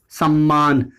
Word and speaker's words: सम्मान: आप दूसरा दर्द देखिए जैसे यह सब है सम्मान तो इसमें का उच्चारण भी आप सुनेंगे तो इस रूप में